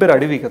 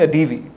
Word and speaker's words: Adivi: Even me, my surname is Adivi. In the US they called me Adeevi.